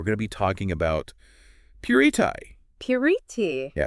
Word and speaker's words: Puritii: interesting today we're going to be talking about purti purti yeah it's a brand it's pronounced purei purei and we're going to be looking at